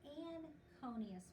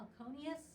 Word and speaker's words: anconeus: we call it a aconeus so we don't even pronounce the n but it is pronounced